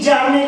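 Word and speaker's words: Bjarne: B Jarne लिखा है, B silent है, तो Jarne Stroustrup.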